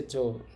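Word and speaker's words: 女: পরের উদাহরণটা যদি আমরা দেখি, আবার আমাদের কাঞ্জিটা আছে, তো এটার উচ্চারণ হবে এখানে দান। দেখেন এটা হচ্ছে দান, আর এটা হচ্ছে জো।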